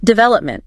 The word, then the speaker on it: development: Pause. Still a second. Development. Notice how D and Oman are sort of lighter.